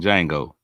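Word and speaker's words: Django: what's up p man the D is silent in Jango lroy say I don't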